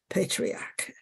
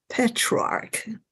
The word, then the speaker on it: Petrarch: Dark Ages and this term is coined by patriarch patriarch okay petrarch okay I pronounce it wrong patriarch is the 19 way